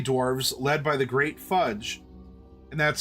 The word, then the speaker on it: Phudge: The Draconians had initially intended to wipe out the filthy little nuisances, but the Gully Dwarves, led by the Great Fudge, and that's spelled Phudge, Fudge, led by the Great Fudge,